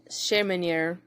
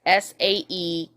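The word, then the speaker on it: Sæhrímnir: from the giant pig called Sheminir, which I can guarantee I said wrong. It's Saehrimnir, and drink the mead from the goat.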